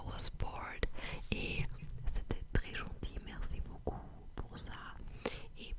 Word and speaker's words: gentil: bored et c'était très gentil. Merci beaucoup pour ça. Et plusieurs personnes m'ont aussi dit que je dois pas prononcer le L à la fin de Gentil.